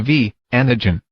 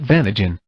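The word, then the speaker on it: V antigen: It is the V, antigen, not Vanagen.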